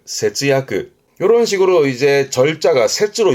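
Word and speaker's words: 節約: 발음은 세즈야그, 세즈야그.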